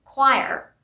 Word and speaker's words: choir: moving on to choir here nothing is silent but here the pronunciation of this word is totally different but nothing goes silent here i'll stay sane just it's choir choir conscience conscience i now